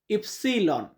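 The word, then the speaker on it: ipsilon: ইস ইস মানে এক্স ওয়াই কে Italian উচ্চারণ হয় ইফসিলন। ইফসিলন মানে হচ্ছে ওয়াই।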